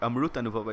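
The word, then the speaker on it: Amritanubhava: Okay, Amrut Anubhava is the proper pronunciation of that would be.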